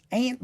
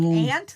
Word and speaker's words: aunt: Aunt B. So when I'm with them, I have to make sure I'm saying aunt because the one time they're like ant like the bug.